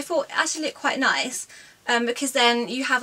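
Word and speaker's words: Nicce: Last item now, and I got this tee from, I think it's pronounced Nice, even though it's got 2 C's.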